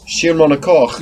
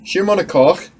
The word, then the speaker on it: Schiermonnikoog: Schiermonnikoog. You were spot on. Schiermonnikoog.